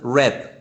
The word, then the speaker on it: read: knows it different is it's pronounced it red like the color but you spell it the same as read but just you say